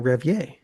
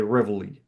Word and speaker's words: Reveille: But he was also pointing out that it was French, so maybe the French pronunciation is Revier, Revier. Yeah. And in American, we say Reveille.